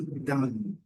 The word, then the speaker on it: done: Então, aqui, done, done, done. Ok? Done. Não done. Done, done, done. Alongando um pouquinho, que é a pronúncia do N, N, N.